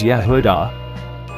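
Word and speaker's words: יהודה: This is the name Judah, which is Yud He Vav Daleth He, pronounced as Yehudah.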